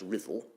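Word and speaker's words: Ruthwell: This is the Rothwell Cross, sometimes pronounced Riddle, um which used to be on the beach down of the Soway FTH.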